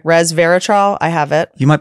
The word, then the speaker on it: Resveratrol: Resveratrol. I have it. You might be the first person who ever pronounced that correctly.